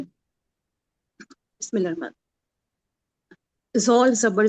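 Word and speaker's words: ذال: अच्छा ये ना जोल नहीं है, ठीक है, जा अलिफ लाम इसकी स्पेलिंग है जाल, ठीक है, लेकिन दांत को लॉन्ग साउंड होगा ये। जाल, मगर हमको जो हमारी अच्छा जबान है उसको दोनों दांतों के बीच में रखना है, ठीक है,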